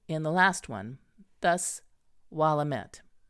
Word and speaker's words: Willamette: the last one, thus Willamette. The letters met not to be pronounced me, as in the French bouquet, but as met, as in the French word gazette.